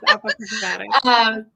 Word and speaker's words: Apochromatik: Apochromatik. You're close. You're close. Apochromatik.